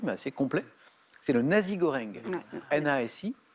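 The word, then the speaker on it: nasi goreng: peu par roboratif mais assez complet c'est le nazi goreng na et G o r e n G comme ça se prononce nazi goreng donc c'est du riz sauté avec de la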